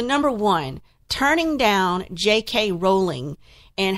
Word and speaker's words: Rowling: one turning down JK Rowling and her name is pronounced rolling like bowling if you don't believe